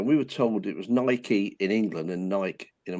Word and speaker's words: Nike: and they called them Nike, and I was like, "What you mean, Nike?" I'm afraid. Spelled Nike, so Nike, not Nike. It's not got a dash in it to pronounce these separately.